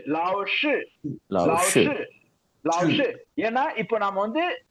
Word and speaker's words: 老师: pronounce பண்ணுங்க எஸ் அதேதான் லாவ்ஷு எஸ் லாவ்ஷு லிப் நீங்க எக்காரணம் கொண்டு அந்த SHI வரும்போது லிப்ப ரவுண்ட் ஷேப் கொண்டு வந்துடக்கூடாது வைட் ஓப்பன்ல இருக்கணும் லாவ்ஷு எஸ் எஸ் லாவ்ஷு எஸ்